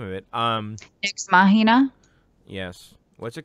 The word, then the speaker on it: Nex Machina: Is it like the movie Ex Machina? Is it Nex Machina? Nex Machina? Nex Machina? Yeah, how do you say that? Nex Machina? Nex, is it NEX? NEX, yeah.